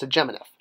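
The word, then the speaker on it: sḏm.n.f: It's called segemoneph, which is spelt he heard. That's what they call their past tense, he heard, pronounced segemoneph. All right, so this is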